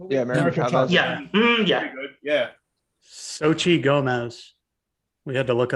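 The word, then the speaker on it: Xochitl: chavez that was her name yeah yeah yeah sochi gomez we had to look up how to pronounce it it's one of those names i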